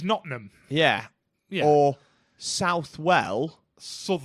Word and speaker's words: Nottingham: but it's bitth yeah like like Nottingham is notam yeah yeah or southw